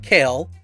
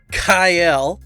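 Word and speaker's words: Kael: by the way um not kale um probably not going to call him that i'm probably just going to continue calling him kale but dark kyle um yeah we've been saying it wrong this whole time uh he he's dark kyle well the other two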